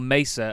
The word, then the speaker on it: Mesa: get there's the uh little cargo Misa or Mesa as I've been told to say it but that's a very American pronunciation for it we've got